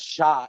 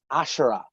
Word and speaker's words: Ashura: And he went, no, her name's not Shah, it's Ashura. And when you'd yell that, you'd be like, Ashura, like one syllable.